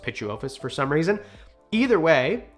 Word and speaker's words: Pituophis: It's spelled like this, but it's pronounced Pituophis for some reason.